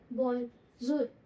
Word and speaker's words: bonjour: हमने क्या सीखा सबसे पहले, बोंजूर। बोंजूर किसके लिए था, हेलो या फिर गुड डे। इसकी प्रोनाउंसिएशन क्या थी?